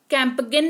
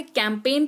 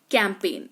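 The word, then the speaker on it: campaign: उच्चारण होता है और जी जो है वो साइलेंट रहता है। उदाहरण फॉरेन असाइन कैंपेन।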